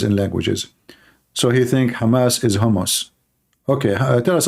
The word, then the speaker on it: Hamas: He called them hummus. He just called Hamas hummus. Hamas. What Hamas? Okay. So, yeah, well, Trump, he have a very high skills in languages. So he think Hamas is hummus.